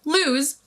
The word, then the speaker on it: lose: Lose, pronounced with a Z sound, is a verb meaning to not have something anymore, to be unable to find something, or to not win.